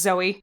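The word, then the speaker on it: Zoë: Zoe is pronounced Zoe. It's regular. Good. Even with the accent mark.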